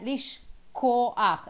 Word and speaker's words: לשכוח: It's k. K and h. That's the biggest problem. That's always, yeah. K and h, always confusing. Yeah, לשכוח.